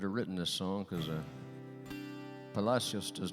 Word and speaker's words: Palacios: everything else, suggest that the town was once called Palacios. But nowadays, Texans call it Palacios. Kind of sort of rhymes with fascist if you think about it.